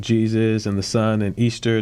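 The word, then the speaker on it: Eostre: So one of the common names for this particular goddess that is associated with Easter is still pronounced Easter, but it's spelled E-O-S-T-R-E.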